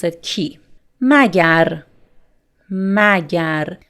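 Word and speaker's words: مگر: Magar. Magar. Magar is the formal pronunciation. Mage. Mage. Mage is the spoken pronunciation.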